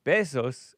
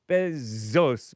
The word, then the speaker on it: Bezos: But it's not Bessos like kisses. It's Bzos, but it's whatever.